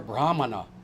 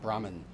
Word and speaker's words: Brahmana: If you're a Brahmana, and that's how you say it, not Brahmin, the British started saying that, and now you repeat it.